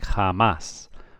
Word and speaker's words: jamás: J in Spain is always pronounced like the H in English.